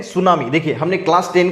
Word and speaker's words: tsunami: वाले हैं वो है सुनामी देखिए इसका स्पेलिंग टी से शुरू होता है टी और उसके बाद सुनामी ये ध्यान में रखना है इसको हार्बर वे